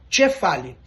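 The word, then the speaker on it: κεφάλι: Então, por exemplo, para a palavra cabeça, kefali, existem alguns lugares, sobretudo algumas ilhas, que pronunciam, como Creta, que se pronuncia cefali.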